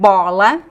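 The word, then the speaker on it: bola: it's so you have the word bolu and the word balla close and open can you say that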